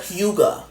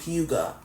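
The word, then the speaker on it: hygge: Y G E and it's not pronounced how it looks. And the the Google said huga.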